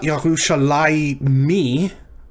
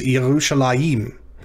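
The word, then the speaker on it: יְרוּשָׁלַיִם: when you see this it's not yahusha me right it's yerushalayim jerusalem next is the name of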